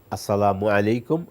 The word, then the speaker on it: আসসালামু আলাইকুম: ভাষায় এটা আমরা আসলে আরবিতে হলে তো আসসালামু, মিমের উপরে পেশের বিপরীত অন্য কোনো কিছু নেই। তো এখন আমাদের বাংলায় পেশ উচ্চারণ করতে গিয়ে কেউ ওকার দিয়ে করে, কেউ রস্যুকার দিয়ে করে। আসসালামু আলাইকুম আমি উচ্চারণটা করি, এবার আপনি ওকার যোগ করে করেন আর পেশ মানে একার মানে রস্যুকার দেন। আসসালামু আলাইকুম, আসসালামু আলাইকুম, মু বলি আমরা, হস্যকার।